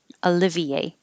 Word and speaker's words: Olivier: Olivier would be similar to the English name Oliver.